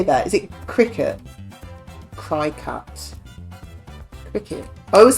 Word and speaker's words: Cricut: Was it your wife that's got a cricket? I don't know how you say it. Machine. How do you say that? Is it cricket? Cricut.